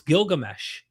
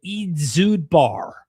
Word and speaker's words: Gilgamesh: This was back when um they didn't even know how to properly pronounce Gilgamesh. Uh philologists eventually stopped calling him Edzubar. I kid you not. His name the it's like Edzubar. Not Gilgamesh. They called him Edzubar.